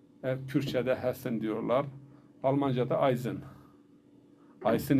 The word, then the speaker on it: Eisen: Eisen yazılır. Z okunur.